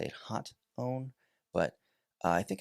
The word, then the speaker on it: Hotone: Another somewhat affordable brand, Hotone or Hotone. I never know how to say their name. I've heard people say it Hotone, but I think it's Hotone.